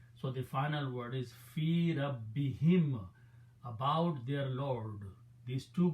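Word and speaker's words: في ربهم: So the word is fi Rabbi, and to ease in the pronunciation, we also pronounce this kasra. So the final word is fi rabbihim, about their Lord.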